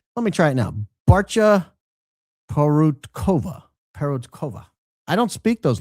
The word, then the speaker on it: Barca: It's Barca, pronounced Barcha.